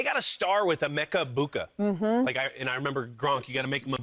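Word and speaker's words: Egbuka: And they got a star with Emeka Buka. I remember Gronk. You got to make him a boo. A boo. Yeah, easy way to remember the G is silent.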